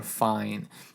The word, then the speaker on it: fine: until you get to the fine sign, or fine, but it's pronounced fine.